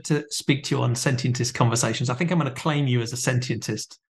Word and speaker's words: sentientist: Sentientist.